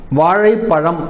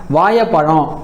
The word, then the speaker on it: வாழைப்பழம்: பாருங்க வாழைப்பழம் அப்படின்னு இருக்கு வாழைப்பழம் அப்படின்றதுதான் சரியான ஒரு உச்சரிப்பு ஆனா சில மாவட்டங்கள்ல அந்த ழ உச்சரிப்பு ஏவா வரும் அதனால என்ன பண்ணுவாங்க அப்படின்னா வாயைப்பழம் அப்படின்னு சொல்லுவாங்க சில மாவட்டங்கள்ல அந்த ழ